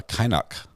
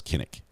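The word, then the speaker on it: Kynoch: say the pronunciation uh k-y-n-o-c-h was uh was the proper spelling and uh kainak would be would be the I think the official pronunciation although in the United States it's commonly just referred to as kinnick there you go um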